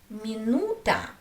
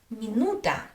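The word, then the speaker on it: минута: Let's look at another word, minuta, minuta, minuta.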